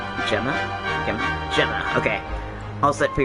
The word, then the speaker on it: Gemma: perfectly normal name okay Gemma soft G Gema okay we sear